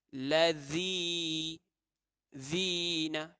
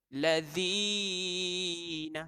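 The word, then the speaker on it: الَّذِينَ: Lazi zina. Tak boleh baca lazina.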